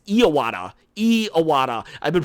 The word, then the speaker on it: Iwata: But also, if you guys didn't know, I was pronouncing Iwata wrong. His name is Iwata.